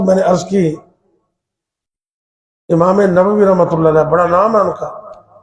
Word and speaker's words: نووی: نے عرض کی۔ امام نووی رحمۃ اللہ علیہ، بڑا نام ہے ان کا، کچھ لوگ اس کو نووی پڑھتے ہیں، نووی، یہ غلط ہے۔ امام نووی کے تلفظ ٹھیک نہیں، نووی، امام نووی، بڑا